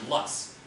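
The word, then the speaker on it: loess: call it dust but it's called lus um or if you're German you might have a slightly different way of pronouncing it than I do um but uh so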